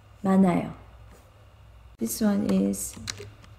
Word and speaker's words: 많아요: Yeah, this case when you read 만, and then we don't pronounce h sound, this one. So n sound goes zero part, right? So ma, nayo, 많아요.